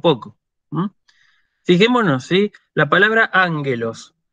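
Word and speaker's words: ἄγγελος: La palabra ángelos. La palabra ángelos es proparoxítona, acento agudo en la antepenúltima.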